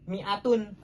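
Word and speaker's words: مائة: mim itu ada Alif tetapi dibacanya tetap Miatun tidak dibaca panjang karena itu hanya penambahan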